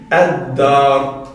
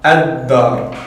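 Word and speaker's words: الدار: On dira ad-dar. Tandis qu'ici on dira al-masjid. Donc là, on entend clairement le lem. Tandis qu'ici, ad-dar, comme vous voyez, on ne prononce pas le lem.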